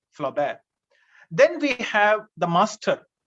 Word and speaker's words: Flaubert: spelling g-u-s-t-a-b flaubert f-l-a-u-b-r-t in french the last consonant is most of the time is silent flaw bear then we have the